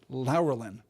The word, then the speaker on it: Laurelin: and laurelin pause here lelin lelin is what it should be and I'm not generally going to be much of a stickler about pronunciation but it occurred to me that it should be lelin and I double checked